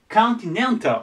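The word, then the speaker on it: continental: なるんですけどアクセントの位置が変わりますこれこっちに移ってきてここコンティネンタルて言いますカンタルでアクセントの位が変わるのでぜひね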